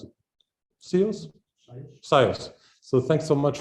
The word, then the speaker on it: SIOS: Shall I say, how do you pronounce it? SIOS?